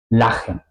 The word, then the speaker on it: lachen: La sílaba finaliza en la A, pero se pronuncia corta porque tenemos una CH después, ¿ok?